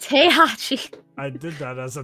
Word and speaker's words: Heihachi: He is the Hi-Chi. Heihachi. Yes. It's pronounced Heihachi.